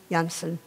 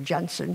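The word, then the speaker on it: Jansen: odds by one man, Jonathan Janssen, or Johnson, he seems to have two pronunciations for his name, and being carried out with him by you, the students, the youth of the country.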